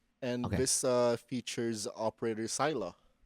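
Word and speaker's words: Saileach: this uh features operator sila. It's it has a weird spelling. It's like s a i l e a c h. It's like silage, but you pronounce it as sila or salah.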